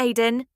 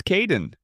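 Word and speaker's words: Kaeden: Hello Charlotte, I'm Kaden, one of the supervisors. Welcome to the team. Hi Aiden. It's Kaden.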